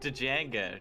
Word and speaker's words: Django: Aha, the D is silent. Nah, That's the just over Django.